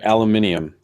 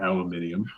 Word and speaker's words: aluminium: Like your aluminium. Aluminum. What do they call it? Yes, that's right. Aluminum. It's not aluminium.